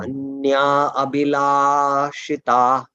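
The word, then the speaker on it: anyābhilāṣitā: Anya, it is dirgha. Anya abhilashita shunyam.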